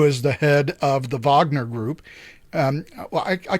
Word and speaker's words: Wagner: Yevgeny Progozhin, who is the head of the Wagner Group. I call it the Wagner Group because that's the German pronunciation.